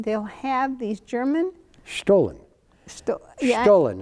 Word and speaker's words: Stollen: Stollen, it's pronounced.